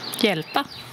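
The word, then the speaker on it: hjälpa: Yelpa. Yelpa. Encore une fois, HJ devient Y.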